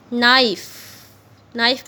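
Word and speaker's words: knife: नाइफ में देखें के की साउंड नहीं है, के साइलेंट लेटर है।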